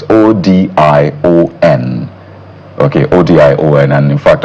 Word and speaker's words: Odion: So ODION, that's to spell the name, but I imagine it's pronounced as Odion.